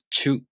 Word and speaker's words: ちゅ: Same thing with chu and cho. To pronounce chu, the tongue moves from the ch consonant to the u vowel. Chu.